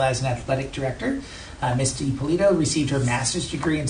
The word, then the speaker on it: DiPolito: DiPolito, am I saying it correctly?